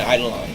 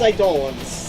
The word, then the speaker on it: Eidolon: first time meeting an idol line so I don't want hi darlin excuse me I thought it was I'd live well in this game they pronounce them as Eidolons okay this is our